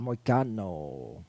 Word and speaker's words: Moicano: Mokachina. Moicano Moicano. is how you say his name.